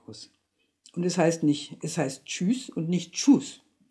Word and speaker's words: Tschüss: Und es heißt Tschüss und nicht Tschüss. Das Tsch geht wie das englische Tsch, T-S-H, wie bei einer Dampflok. Und das Ü ist so ähnlich wie das Ui in Juice.